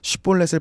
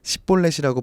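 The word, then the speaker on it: שִׁבֹּלֶת: 에브라임 사람들은 이 쉰을 사맥으로 발음하는 습관 내지 특징이 있었습니다. 사투리 정도로 생각해보면 좋을 것 같아요. 그래서 쉿볼렛을 발음시켜보고 십볼렛이라고 발음하면 아, 너 에브라임 사람이구나 하고 죽였다는 거죠.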